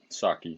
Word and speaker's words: Psaki: I think the P is silent. Saki.